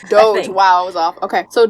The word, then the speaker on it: Doge: How is it pronounced? Doge.